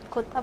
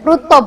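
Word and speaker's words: رطب: Kutab bukan rutob. Oh kut. Bacanya namanya Rutob.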